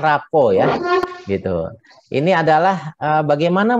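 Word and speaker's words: rapport: disebut dengan rapuh nih tulisannya raport bacanya Rapopo ya gitu Ini adalah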